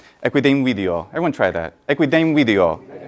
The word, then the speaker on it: equidem video: a more technical term, the merging of two syllables together. So equidem and in video, equidem video, equidem video.